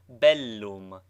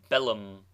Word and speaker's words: bellum: Doubled consonants should both be sounded, contrary to the custom of English. Thus bellum is pronounced distinctly bellum, not bellum.